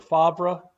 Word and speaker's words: Favre: show old dad yeah that's uh that's brett favre or fabre is he used to be uh pronounced uh back then uh yeah man that's